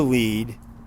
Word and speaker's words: lede: I was broadcast journalism, so it's spelled LEDE. Yeah, bury the lead, or don't bury the lead is spelled LEDE.